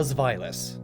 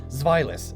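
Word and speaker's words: Zweilous: to be huge but trust me i looked it up found like 40 different ways to pronounce it and that one makes the most sense xvilas it's german so upon evolving into xvilas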